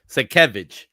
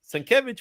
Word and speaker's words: Sienkiewicz: Sekevich. Yeah, because we learned the hard way. I Yeah.